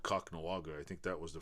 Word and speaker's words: Kahnawake: It's like Kahnawake. A lot of people say Kahnawake or Kahnawake or I don't know.